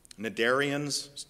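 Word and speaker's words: cnidarians: plausible multicellular organisms were nadarians cn is how that word starts it's pronounced rather deceptively but nadarians like jellies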